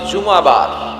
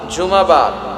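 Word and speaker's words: জুমুআ: জুমাবার। সূরাটার নাম হচ্ছে সূরাতুল জুম। আমার সাথে সাথে বলেন সূরাতুল জুমুয়া সবাই বলেন সূরাতুল জুমা অনেকে বলে ফেলে জুমা জুমা আসলে আরবিতে শুদ্ধ উচ্চারণটা হচ্ছে জুমু সূরাতুল জুম এই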